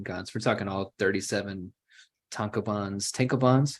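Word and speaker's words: tankōbon: we're talking all 37 tanka buns tankobons how do you pronounce that Zach tonkoban tankoban thank you uh it ran from 2000 to 2013.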